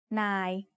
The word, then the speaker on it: นาย: ยอยักษ์สระอาวอแหวน ยาว The last word is นาย which means boss.